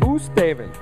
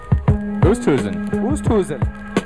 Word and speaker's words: Oosthuizen: Oosthaven. Oosthuizen. Yeah, it's tricky. I think Jim Nance was pronouncing it wrong the whole time.